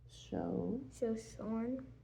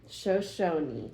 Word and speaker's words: Shoshone: Shoshone. There's no R. Sorry. Shoshone. You keep saying R. Let's do the boxes. There's no R. Shoshone. Good job. Remember, no R means no R sound, right?